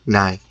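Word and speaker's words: ໃຫຍ່: in blue is it's written in English ngai so Nai how you pronounce it and on the picture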